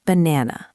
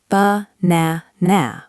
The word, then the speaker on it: banana: For example, look at the word banana. We do not say ba-na-na with 3 strong A sounds. We stress the middle syllable. The first and last A become schwas. It sounds like banana.